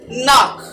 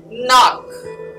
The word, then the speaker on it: knock: word is not knock the k is silent very easy it is knock knock knock good i hope you're